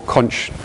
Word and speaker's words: conch: In a similar way, these queen conch, or conch, people pronounce it differently, shells, which are an endangered species, they occur all across the Caribbean and were hunted in.